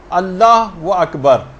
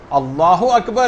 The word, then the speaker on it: اللہ اکبر: جو آپ کہیں گی۔ بہت سارے غلط تلفظ لوگوں کے اندر رائج ہیں، مثلا اللہ و اکبر، اللہ اکبر ہے، یہ اللہ و اکبر نہیں، اگر کوئی ایسے کہہ